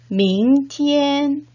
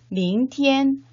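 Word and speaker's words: 明天: 밍, 그 다음에 두 번째 음절은 티엔이라고 발음을 하셔야 되겠죠. 원어민 선생님의 정확한 발음을 듣고 따라 발음해 보도록 하겠습니다. 明天见 네, 밍티엔.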